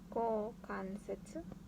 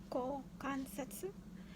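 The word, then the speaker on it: 股関節: So it's pronounced as ko kansetsu.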